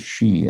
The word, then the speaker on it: xi: to skip that letter which you could also pronounce as she as in chinese president xi jinping in naming covet variants due